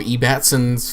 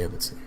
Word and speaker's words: Ebbetson: There's E. Batson's Facebook. As he said, people who are stupid say it E. Batson, but I think it's spelled Ebbetson, so whatever. I actually say Ebbetson.